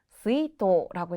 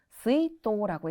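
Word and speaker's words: 出納: 정답은 스이토라고 했습니다. 자, 조금 난이도가 있는 문제였어요. 우리가 출자 같은 경우는 보통 이제 슈츠를 연상을 합니다. 다른 단어가 붙었을 때는 보통 슈츠라고 읽히기 때문에 1번 가신 분들 많았을 거예요. 하지만 이 단어 같은 경우에는 스이토라고 있습니다.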